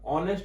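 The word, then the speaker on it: honest: ऑनेस्ट में भी same case है, यहां भी एच साइलेंट है और ये ओ से स्टार्ट हो रहा है।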